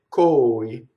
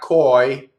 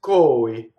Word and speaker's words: coi: And there'll be just a slight space before you say coi. Doesn't rhyme with boy now, does it, right? It's not koi, like the English word. It's coi.